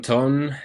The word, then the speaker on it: Ton: So, welcome, Ton. Thanks for coming. Thank you, Javi, for letting me into your podcast. Nice pronunciation of my name.